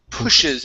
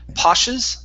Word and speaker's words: pushes: First up, we have the word pushes instead of poshes.